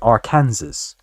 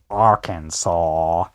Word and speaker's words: Arkansas: it as it was spelled, it should be our Kansas. But no, apparently it's Arkansas. I drove all the way from Kentucky to Arkansas.